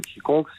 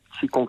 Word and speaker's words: Qigong: Et on va dire une des composantes qui est importante dans le Qigong, c'est l'esprit en fait.